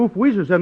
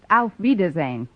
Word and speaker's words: Auf Wiedersehen: Gosh, if oof Weezer's end doesn't mean goodbye, then my coming over to wish you oof Weezer's end must make me out to be some kind of a dummy.